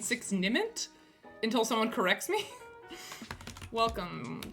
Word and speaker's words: Nimmt: Six Nimmt rhymes with limped.